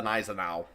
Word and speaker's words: Gneisenau: Because I've always heard, because when my grandmother, she always called it the Gneisenau.